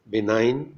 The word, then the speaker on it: benign: In GN, G is silent, as in resign, consign, benign means kind, foreign, gnaw, GNAW, that means bite, gnash means strike teeth, as in anger.